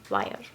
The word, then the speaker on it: Weir: and this is by Andy Meyer wire that's how you pronounce so he's the same